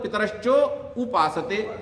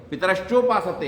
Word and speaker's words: पितरश्चोपासते: अब पितरश्चोपासते को कैसे बोलते हैं लोग, पितरश्चो उपासते। अब आ और ऊ मिलके ओ तो पहले ही हो गया, अब उसको उपासते बोलने की क्या जरूरत है, पितरश्चोपासते है, वहां पर उसको वैसे ही रखिए।